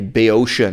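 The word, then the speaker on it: Boeotian: the difference between an Athenian accent and a bay ocean accent this is the British pronunciation of Bayeux Shevin like the next suburb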